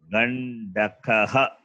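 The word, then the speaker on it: गण्डकः: Therefore, the word is Gandakaha. It is Gandakaha. Dakaha, not Dagaha or Dakaha. If it is Kaha, Mahaprana. It is not Mahaprana, it is Alpa Prana only. Therefore, Gandakaha.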